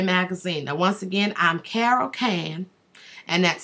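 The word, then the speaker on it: Carrol Cane: Now once again, I'm Carol K and that's C A R R O L C A N E and E is silent.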